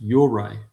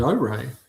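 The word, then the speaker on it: Ouray: It's pronounced Yore. Really? Yore. Yeah, I would have said Ore. Okay, it's pronounced Yore, but like heroes and gyros, or gyros. Tavo, convict, prisoner of motherland.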